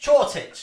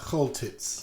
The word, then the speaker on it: Choltitz: of upset Nazi sympathisers here by getting the pronunciation wrong, but Chortitz, I believe, Roger, you can help me out. Choltitz.